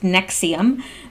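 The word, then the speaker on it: NXIVM: as annex IV m which is pronounced nexium the authorities said the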